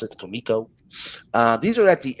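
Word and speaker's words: Comico: And yes, ladies and gentlemen, it is pronounced Kiko.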